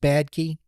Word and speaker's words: Badkey: Jace, uh I believe that's pronounced Badkey. Yes, Bad Key.